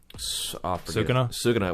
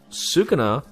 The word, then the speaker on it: Sukuna: So now we're stuck at a time where Sukuna, that's how you pronounce it, right? Sukuna?